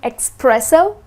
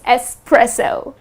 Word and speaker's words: espresso: please don't end up saying expresso the correct pronunciation is Espresso .